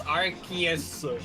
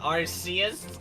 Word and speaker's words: Archus: It's Archus, not Arus and not Aruse.